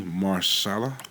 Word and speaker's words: Mahershala: I want to say his name correctly, Mahershala.